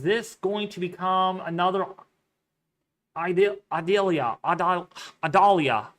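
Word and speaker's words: Idalia: going to become another Adelia ad Adalia think Adalia that's how you say it um it is very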